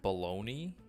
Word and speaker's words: bologna: word that's spelled bellogna in the u.s but pronounced baloney but the original italian pronunciation is like bologna